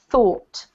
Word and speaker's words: though: this one yes okay let me pronounce them both for you so that you get the clearer picture this one here is pronounced oops this one here is pronounced though this one here is pronounced thought thought yeah so this is thought with a f like here and this